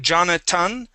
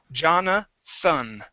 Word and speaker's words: Jonathan: get that th so here you're saying Jonathan pronouncing a t we need a th Jonathan Jonathan good Jonathan Jonathan